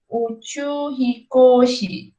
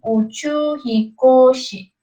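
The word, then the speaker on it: 宇宙飛行士: Jadi astronot itu dalam bahasa Jepang uchu hikoshi. Jadi tulisannya uchu hikoushi. Tapi kita baca panjang di chu sama ko-nya. Jadi uchu hikoshi.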